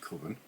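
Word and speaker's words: Cwfen: It's pronounced Coven.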